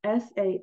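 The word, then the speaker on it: Samhain: the way to the ancient Celtic Festival of sa um it's spelled s a m h a i n but it's pronounced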